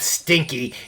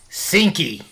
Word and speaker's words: Seenki: general like genuine confusion her name's not stinky its sinky Oh sinky oh my